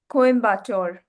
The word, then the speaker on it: Coimbatore: Teach all of us how to pronounce this word. Com. It's Coimbatore. Okay. Coimbatore is in Yeah.